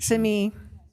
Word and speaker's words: Simi: And if she were here, would she correct your pronunciation? Simi.